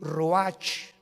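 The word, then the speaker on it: רוח: y exhaló isaac el roach así como suena se pronuncia la ch en hebreo como j se le salió y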